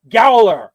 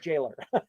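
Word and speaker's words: gaoler: Growller. Yeah, I like that. He's a gallower. Okay. That sounds cool. Nope. Sorry. It's just pronounced jailer.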